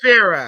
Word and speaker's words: Kafira: She said Kafira. Oh, Okay, Kafira. get it right.